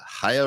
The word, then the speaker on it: Chaya: And also, can I just say, I will lash him 30 times for getting your name wrong. We were talking about this earlier. It's Chaya. Chaya.